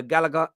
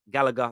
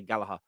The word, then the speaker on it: Gallagher: Alan Shearer days uh Galaga galahar Gallagher sorry I say it like the Irish the Irish say Gallaher uh Gallagher is the